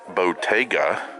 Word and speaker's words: Bottega: It's actually pronounced Bottega. It's Italian, so, and I'm half Italian.